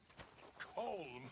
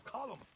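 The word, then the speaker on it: Colm: not you as well it's not col it's column in Ireland we say column well uh he likes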